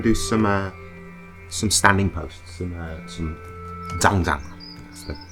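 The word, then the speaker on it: Zhan Zhuang: So today we're going to do some standing posts, some zhangzhang. That's the correct way to pronounce it.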